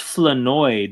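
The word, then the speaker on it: Flournoy: It's pronounced Flenoi. The R is silent.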